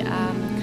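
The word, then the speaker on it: 鱼: lucky symbol because um fish in Chinese pronunciation means U uh it's the same pronunciation that actually means that exra because the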